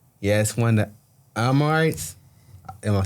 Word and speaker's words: Amorites: He asked one of the Amorites. Am I saying it right? Amorites, yeah.